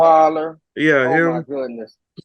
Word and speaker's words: Osweiler: Osweiler.